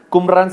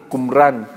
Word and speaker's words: Qumran: Qumran se escribe Q-U-M, una sola R-A-N, Qumran.